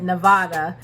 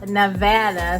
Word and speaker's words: Nevada: went to Nevada, and I was calling it Nevada. And my supervisor was like, if you're gonna be here, it's pronounced Nevada.